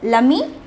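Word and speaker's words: l'ami: begins with a vowel no matter whether it is a m i or a m i e it is preceded by l a positive this either lumi or lumi the pronunciation is the same the next word is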